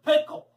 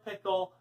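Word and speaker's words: Pickell: pickle actually his name was dr. pickle with the accent on the second syllable but that wasn't why everyone called him dr.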